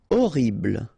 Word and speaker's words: horrible: utile horrible remember we don't pronounce h immense final pronounce immense